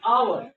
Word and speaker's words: hour: देखो right H है, देखने में लग रहा है कि ए आएगा, लेकिन इसको जब स्पीक करेंगे, प्रोनाउंसिएशन इसका होगा, तो यहाँ पर आता है आवर, आवर, आ।